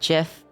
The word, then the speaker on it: GIF: It is not with a hard G. I know. Yes. It's so. First of all, it's called GIF by the creator who is now dead.